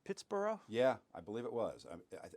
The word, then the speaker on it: Pittsburgh: it's a much more if you go to the sort of the English sounding pronunciation or Scottish sounding pronunciations you get that bur sound instead Edinburgh Scotland pronounced